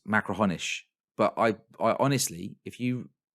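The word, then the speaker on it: Machrihanish: have, I'm sorry, but if you read it written down, it's Macrahanish, but it's not. It's Macrahonish, I think, right?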